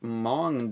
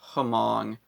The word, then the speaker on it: Hmong: cowbell this is the mong dub of hurricanes uh i did a video going over this before i mispronounced it hamong that's how it's spelled hmong it's a uh chinese